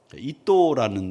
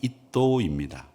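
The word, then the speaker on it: 잇도: 이또라는 이름은 뭐냐면에 우리가 발음하기는 이또 히로부미에 이또처럼 들리지만 이에다가 시옷 발음이 들어간 이도입니다.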